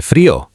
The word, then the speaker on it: frío: Hace frío. It's cold. Repeat after me. Hace frío. Frío sounds like "free-oh".